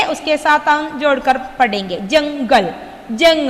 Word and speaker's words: जंगल: जंगल. जंग. हियर न प्रोनाउंस करेंगे.